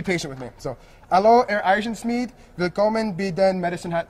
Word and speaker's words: Eisenschmidt: Marcus Eisenschmidt, is that how you pronounce it? Yeah, Eisenschmidt.